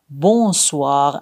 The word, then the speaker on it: bonsoir: Mais attention, dans bonjour et bonsoir, le N se prononce pas complètement, il est nasal. On dit plutôt bonjour, bonsoir avec un son qui sort par le nez.